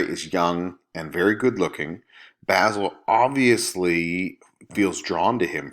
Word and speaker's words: Basil: between Lord Henry and basil and by the way his name is pronounced basil he's not an herb so the two of